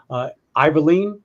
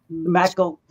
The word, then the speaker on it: McIlveen: And that's Iverleen. Did I say that right? McIlveen. I did not say it right. That's McIlveen.